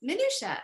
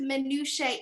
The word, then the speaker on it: minutiae: would say wrong and one of them was um minutia the plural and i was like oh the plural of minutia is minutia and she was like have you heard it pronounced minutiae e and i was in minutiae really that's what she said